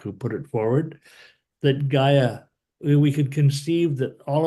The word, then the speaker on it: Gaia: because I was like what is GI i g a i a how do you pronounce that oh Gaia Gaia and what's a Gaia so Gaia is